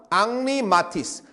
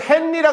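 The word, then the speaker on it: Henri Matisse: 그다음 앙리마티스 이거는 헨리라 글지 않습니다. 프랑스 사람은 영국하고 아까도 했지만 언어가 터져서 영국에서는 헨리 프랑스에서는 앙리라고 발람합니다. 앙리마티스.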